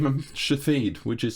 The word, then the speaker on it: Shithead: Shathid, which is spelled S-H-I-T-H-E-A-D. It's a foreign name. Shathid. Shithead. Yeah, it's not shithead. an English name. That's shithead. Yeah, but it's not an English name. It's Shathid in other languages.